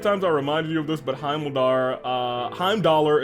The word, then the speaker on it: Heimdallr: I don't mean how many times I reminded you of this, but Heimdallr is pronounced Heimdall. But what about the R? We can't stop the R.